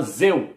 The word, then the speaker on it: Zeu: Coloquei aqui no Google Tradutor, português, o nome Deus, para traduzir para romeno, que a pronúncia lá do nome Deus, lá se pronuncia como Zeu.